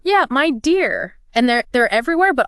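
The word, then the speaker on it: Midea: right media media and it's pronounced my dear yeah my dear and they're they're everywhere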